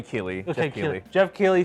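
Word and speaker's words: Keighley: I keep forgetting because I want to say Neely but it's not it's Kylie it's Kylie uh I don't know I don't know if that's how you pronounce it Kylie Keely I think it might be Keely okay Jeff Keeley said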